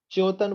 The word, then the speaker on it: च्योतन: उच्चारण के लिए आधे चा से शुरू कीजिए। च्योतन बोलिए पहले, च्योतन, च्योतन, च्योतन।